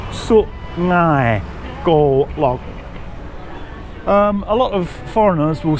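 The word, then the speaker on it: Su-ngai Kolok: It's not sung, it's su ngai go log.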